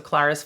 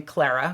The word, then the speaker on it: Clara: So Clara's father is Herr Sessemann, and the schoolmarm character is Fräulein Rottenmeier.